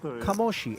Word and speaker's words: Kamoshi: And by the way, there's nothing more validating than the sight in the YouTube chat of one Claudio De Marzo, who says it is indeed pronounced Kamoshi.